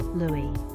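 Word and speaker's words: ルイ: In Japanese, there is no distinction between the pronunciation of R and L. So it doesn't matter whether you pronounce it Rui or Louie.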